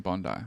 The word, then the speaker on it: Bondi: yeah it's pretty good thank you for saying Bondi like a real person what is it supposed to say that's how you say it people say Bondi